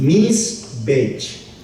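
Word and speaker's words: מזבח: La palabra altar en el hebreo es una palabra que se pronuncia así, misbech, con H, con CH al final.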